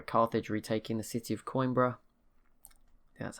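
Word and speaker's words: Coimbra: and i sorry carthage retaking the city of coinbra that's how you say it portugal we'll see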